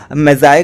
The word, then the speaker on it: Magi: इसको हम लोग यहाँ पर मैजी प्रोनाउंसिएशन करेंगे और कुछ लोग इसको मैजाए करके भी प्रोनाउंस करते हैं।